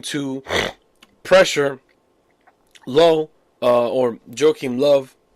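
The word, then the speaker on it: Löw: pressure Low or Joachim Love. You pronounce V, not D, W.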